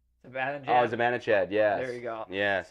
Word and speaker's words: Zibanejad: Oh, Zibanejad.